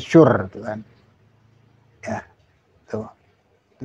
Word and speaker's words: Shure: Ini masih ada tulisan bacanya Shure tuh kan.